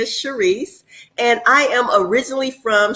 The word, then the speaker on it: Charise: Did I pronounce that right? Charise.